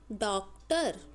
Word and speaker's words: डॉक्टर: हुआ है डॉक्टर देखिए डॉक्टर के ऊपर आपने अर्ध चंद्र लगाना है और बिंदी नहीं लगानी इसका उच्चारण हम इस तरह से करेंगे डॉक्टर उसके बाद है विटाम